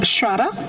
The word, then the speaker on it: Shraddha: And it's pronounced Shraddha?